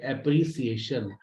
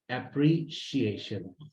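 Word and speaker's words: appreciation: लीजिए, अप्रिशिएट, उसके बाद पूरा पाकिस्तान कहता है एप्रिसिएशन, बट the right प्रोनाउंसिएशन इज एप्रिशिएशन। Then लोग, अभी ये वर्ड पढ़ा ही नहीं है जिंदगी में।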